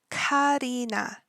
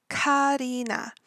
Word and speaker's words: Karina: or in the Korean Karina Karina now that first Ka sound is going to be the hard K C Kina and her